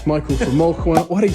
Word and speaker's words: Molquin: How do you pronounce it? Molquin.